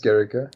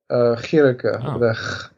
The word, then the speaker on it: Gericke: do you pronounce it I would say both are right because the original German is Jerrica okay and the Afrikaans people say Kirika that is more from a Dutch another background so it means you can